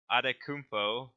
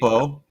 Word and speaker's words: Antetokounmpo: So we're starting with MVP, and our wheel decided to nominate James Harden, Giannis Adetokounmpo, if I can pronounce that correctly. Antetokounmpo, Yeah.